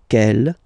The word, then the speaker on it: quelle: And the good news is that you will pronounce them the same way. Alright, so quel, quel, quel, and quel. Okay, remember that in some